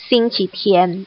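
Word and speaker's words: 星期天: Satu dibaca xingqi ri, satu lagi dibacanya adalah xingqi tian.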